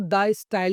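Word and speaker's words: De Stijl: क्योंकि ये एक फ्रेंच वर्ड है तो हम इसको द स्टाइल ही प्रोनाउंस करेंगे।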